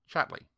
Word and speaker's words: Chatterley: She pronounced the name as all people did. Chatley.